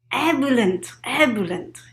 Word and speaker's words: ebullient: If you know how to pronounce it correctly, please help me. It's ebullient.